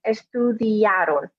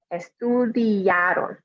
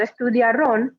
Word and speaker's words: estudiaron: Again, not estudiaron with a stress on the O at the end, but estudiaron. Remember, in Spanish, we always put the stress, always with an asterisk. In general, we always put the stress on the second to last vowel in the word.